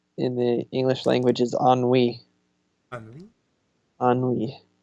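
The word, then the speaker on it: ennui: the way spelled to so the word is on we but it's spelled e in in you I ok I just love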